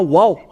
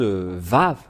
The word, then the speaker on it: vav: lorsque nous voyons cela nous voyons bien que c'est V la vraie prononciation mais pas wou c'est bien un V parce que ils ont il y a ceux qui sont ont créé le waou W c'est un peu étonnant car même si c'est wa ça se prononce vave ou que vous soyez c'est toujours le vave et nous allons revoir